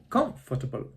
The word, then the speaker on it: comfortable: Instead of saying, I am comfortable, the stress is at the beginning. I am comfortable.